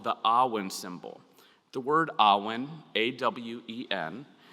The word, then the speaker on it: Awen: And in doing so, we pronounce the word as if it were 3 syllables, like the 3 rays in the Awen symbol. Awen.